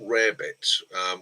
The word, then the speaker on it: rarebit: It's actually pronounced and spelt rarebit, but over the years it's turned to Welsh rabbit.